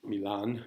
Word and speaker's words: Milan: brother Antonio in millon Milan but it's pronounced millon within the play and so he has